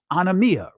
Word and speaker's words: anomia: Some will pronounce it anomia, but it's anomia, right?